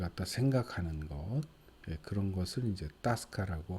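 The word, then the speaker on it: тоска: 있기는 이제 또 스카이에서 침에 엑센트가 뒤에 있어요 엑센트가 뒤에 힘쓰면 5가 아 발음합니다 그래서 따 스 카 이렇게 되는 거예요 그래서 어 향수 향수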